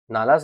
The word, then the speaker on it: नल: और नल, नालास लिखा है, नल होता है इसका मतलब, प्रोनाउंसिएशन नल कहा जाएगा।